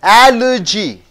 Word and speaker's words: allergy: India alduji and urji Allergy you don't say allergy allergy allergy you have to stress the first syllable L agency a you